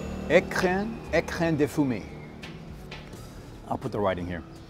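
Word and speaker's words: Écrin de Fumée: All right, it's pronounced Ecrin De Fumee.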